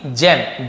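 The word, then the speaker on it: gem: है, एक कीमती असली जेम, जी के साथ ई हो, आई हो या वाई हो, तो ज्यादातर जी का उच्चारण ज होते हैं, जैसे गेम नहीं पढ़ेंगे जेम पढ़ेंगे, और जेम का मतलब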